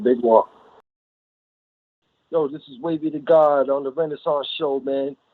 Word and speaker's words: Wavy da Ghawd: It's WAVYDA, then GHAWD, Wavy da Ghawd.